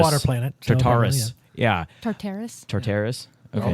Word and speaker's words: Tartarus: It's Tartarus. Water planet. So Tartarus.